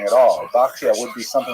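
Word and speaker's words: בחיי: The customary pronunciation is bakya. Uh but it's not a regular Hebrew spelling at all. Bakia would be something like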